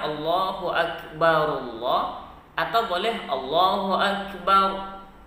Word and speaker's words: asyhadu alla: Kemudian ada setelahnya ada ashadu alla. Jangan dibaca anla karena di situ berlaku hukum idgham bila gunnah, nun sukun bertemu dengan lam.